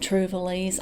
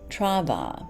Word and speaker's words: Trouvailles: I've called it travels I've called it try trival or trival and there are so many different pronunciations of this box I have gone on Google and heard numerous interpretations but I believe the French is Trava so which means to